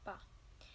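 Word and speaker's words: ぱ: Ha with handakoten is pronounced as pa.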